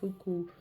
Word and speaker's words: Fukubukuro: So I have been getting these lucky bags, and it's a part of the Japanese tradition of, I think it's pronounced Fukubukuro, and there was a lucky bag tradition on New Year's Day in Japan.